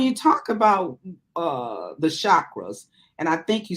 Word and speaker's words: chakra: great so when you talk about uh the chakras and I think you spell it uh s-a-c-a for you c-h-a-k-r-a-c as in